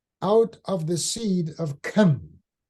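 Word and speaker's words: Ham: of the seed of Kim notice I said come because King James did not pronounce the name correctly because in Hebrew it's like from the back of the throat okay according to the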